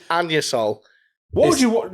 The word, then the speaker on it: Anusol: it's pronounced anusol. Yo, they can get fucked. It says anus. It says. It's anusol.